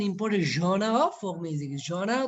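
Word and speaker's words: genre: জনার তো আমরা জানি ধরন, বা উচ্চারণটা কিভাবে করেছি খেয়াল করো তো, উচ্চারণটা করে জনা, জনা, খেয়াল করো জনা, এখানে টোটালি রটা অনুচ্চারিত জনা। ঠিক আছে, অনেকে জ্যানার বলে, ভুল বলে আর কি।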